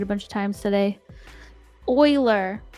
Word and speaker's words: Euler: Now that I've been saying Euler for 2 years, it's going to be very, very hard to switch to Euler.